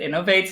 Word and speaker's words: Innovatez: not interesting and like i never knew how i would pronounce it until like actually like when i started like getting into twitch and i watched a streamer pronounce it innovates and said that that was a cool name i was like okay i guess that's how we'll pronounce it now so that's that's that